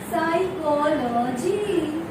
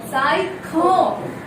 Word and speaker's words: psychology: Here, this P is silent and this S is giving, this S give us the sound of the S. Here, this CH is giving sound of K. Psycho.